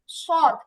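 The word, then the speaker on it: ص: আচ্ছা তারপরেরটায় যাই তারপরেরটা হচ্ছে সদ এই সদ হচ্ছে আমি একটু সহজে যদি বলি তাহলে এটা একটু আগে সিন উচ্চারণ করলাম সিনটা হচ্ছে আরেকটু কি বলে এটাকে মোটা করে উচ্চারণ করলে সদের উচ্চারণ হয়।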